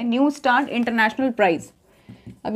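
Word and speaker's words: Neustadt: न्यू स्टार्ट ठीक है टी वैसे साइलेंट है न्यू स्टार्ट इंटरनेशनल प्राइज अब य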